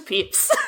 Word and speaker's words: Pepys: the last four years it's pronounced peeps i'm sorry honey i